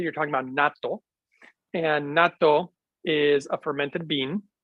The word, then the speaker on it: natto: talking about NATO and natto is a fermented Bean it's Japanese and maybe some pretty salt maybe they do pronounce that nettle but in Japan it's natto n-a-t-t-o super powerful superfood um